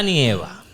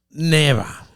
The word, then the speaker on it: nieva: No es neva. Nieva.